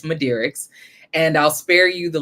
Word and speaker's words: Midearix: mind the question but this is the answer to the question it's madis and I'll spare you